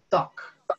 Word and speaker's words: talk: En la pronunciación nunca se emplea la L. Ustedes nunca vayan a decir talk. Ustedes van a decir talk. Como si la L no existiera ahí, ¿listo?